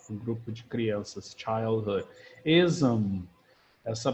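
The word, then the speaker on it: -ism: Ism, essa pronúncia aqui a gente pronuncia mesmo zam para cima. É como se aqui tivesse um som em inglês que a gente chama de schwa, ism.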